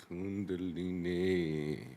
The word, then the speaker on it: Kundalini: could go Maya I'm not sure I can pronounce Kundalini Kundalini yeah see D's got it I got it